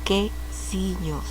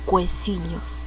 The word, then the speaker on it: quesillos: En este caso la U no tiene sonido. Estamos hablando quesillos, ¿no? No decimos cuecillos. Y por si acaso se pronuncia esto lios, no yos, lios, porque es doble L.